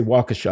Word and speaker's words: Waukesha: When he ran into that, I think they say Waukesha. I think the emphasis is on the first syllable.